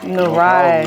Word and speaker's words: Nyarai: I've been pronouncing it wrong this whole time, so I'm glad you said it. Yeah, Narai. Narai.